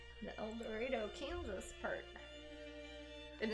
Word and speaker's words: El Dorado: am indeed the eldorado kansas part and it's pronounced el dorado kansas it's not el dorado all the other ones are el dorados but the one in kansas is called el dorado ray bulger ray bulger